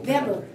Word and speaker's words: Weber: wait I have trouble Weber w b r w e b e r w verber yeah okay that's pronounced with a V be yeah is that